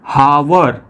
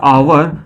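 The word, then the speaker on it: hour: अब जो देखिए क्या है, हावर हेयर, इसको हम क्या पढ़ेंगे, हावर हेयर। लेकिन जब इसका करेक्ट प्रोनाउंसिएशन आप करने जाओगे तो हो जाएगा आवर और ये हो जाएगा एयर, ठीक है।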